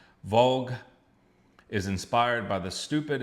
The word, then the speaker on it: Walg: This is a band called I think it's pronounced Vogue. W A L G.